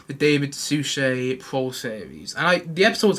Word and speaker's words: Suchet: I've seen a couple of episodes here and there of the David Suchet, I think it's Suchet, that's how I pronounce his name, the David Suchet pro series.